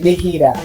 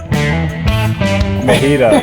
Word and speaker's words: MHEDA: You know, it could be anything you want, but we pronounce it MHEDA. MHEDA.